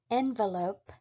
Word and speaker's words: envelop: on the lope note that regardless of the pronunciation envelope or envelope it is always spelled the same